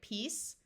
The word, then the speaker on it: peace: is full of color this EA will have a long e sound and the C is going to take its soft sound of s so here we have peace peaceful the suffixes able